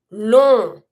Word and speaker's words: long: Long. And we don't pronounce GS.